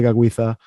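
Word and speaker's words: Tekakwitha: But you use the Mohawk pronunciation, Gadali de Gaguitha.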